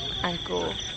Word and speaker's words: Angkor: And it's spelled A-N-K-G-O-R, Angkor. So Angkor Wat.